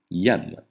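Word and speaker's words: iam: Le J se prononce ye comme dans yak, jamais je comme dans jaguar. Exemple, yam, déjà.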